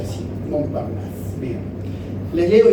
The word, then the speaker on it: Montparnasse: sobre la mesa de Montparnasse, creo que se pronuncia así, Montparnasse.